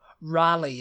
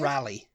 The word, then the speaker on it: Raleigh: yeah that's the next one oh no no Raleigh is the next one Raleigh North Carolina which